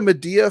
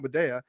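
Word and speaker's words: Madea: One is it's pronounced Medea, not Medea, and two is like it's heavy drama.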